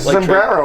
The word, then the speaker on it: sombrero: no, it's sombrero. Sombrero. Thank you, my friend. You have to roll your R's.